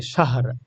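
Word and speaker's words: شَهْر: এভাবে উচ্চারণটা হবে শাহ লাস্টে যে র উচ্চারণটা এটা কিন্তু করতেই হবে শাহ মানে র এর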